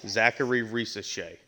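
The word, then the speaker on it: Zaccharie Risacher: me up for whatever reason Zary R Shay Zachary R Shay um you know number one overall pick uh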